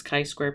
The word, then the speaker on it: chi-square: It says not chi square, never chi square, always chi-square. So that's how this is pronounced.